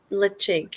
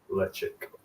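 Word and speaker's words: Ledaig: Is it like Lichig? Is that how you pronounce it? Yeah, I have been told it's almost like chick instead of dig. Okay. So Lichig is Lichig.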